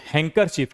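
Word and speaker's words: handkerchief: देखिए हैंकर चीफ। क्या पढ़ेंगे इसको? हैंकर चीफ। देखिए आईपी देखिए आप। हैंकर चीफ। यहां पर डी क्या हो गया? साइलेंट।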